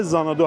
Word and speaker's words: Xanadu: لوگوی ایکس مانندی هست همون حرف اول زانادو هستش که حالا ز تلفظ میشه ولی ایکس نوشته میشه یه حالت افکت جکزی داره این قسمت که خودتون می‌تونین بازو بسته کنید.